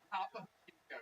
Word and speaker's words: Topo Chico: Topo Chico, yes. That is exactly how it's pronounced.